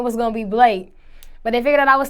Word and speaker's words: Blake: your stage name uh the correct way to pronounce my stage name is Blake Blake is simple do people mispronounce this